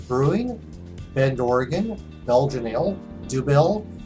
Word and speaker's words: Dubbel: Monkless Brewing, Bend, Oregon, Belgian Ale, Dubbel or nothing is actually how it's said, but it looks like double or nothing.